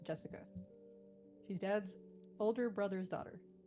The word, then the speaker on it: Jessica: Anyway, that is pronounced Jessica.